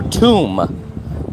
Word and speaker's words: tomb: Or tomb. Tomb. You don't pronounce the B.